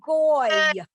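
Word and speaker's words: גוי: Goy, It's exactly like this. It's spelled the same way. Basically, you got a G, you got an O, and you got a Y.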